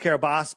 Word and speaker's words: Kiribati: So I'll do the quick run through on Kiribati for those, and it's pronounced Kiribati, but I say Kiribati because that's how it was spelled.